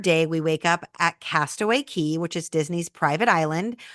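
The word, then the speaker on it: Castaway Cay: day at Castaway K Castaway Key sorry I always say that wrong because it's spelled c a y but it's pronounced key because you're in the Bahamas Castaway key and then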